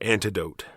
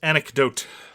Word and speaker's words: anecdote: mark what is your favorite historical fact or antidote i believe it is pronounced anecdote oh my goodness antidote mark your historical antidote